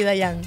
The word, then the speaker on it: Diane: gracias por la invitación se pronuncia regularmente Dayan aunque no tengo problemas pero alguien te ha dicho Diana en algún momento sí lo que no me gusta es que me digan Diana o Diana claro yo he visto